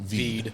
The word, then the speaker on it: Hvid: It's HVID, but we pronounce it VEED. Feed. Well, some people say HVID.